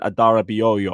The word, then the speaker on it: Adarabioyo: We might have made another shrewd transfer with Tossin Adarabioyo. I think I finally learned how to pronounce his name.